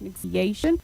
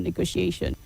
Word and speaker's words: negotiation: It is negotiate, yes. When you put the TION, it becomes negotiation, not negotiation.